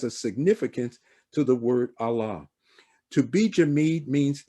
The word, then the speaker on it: Allah: dialect how it's pronounced it makes no difference what language you're in to say allah you have to say allah as it is in arabic so if you speak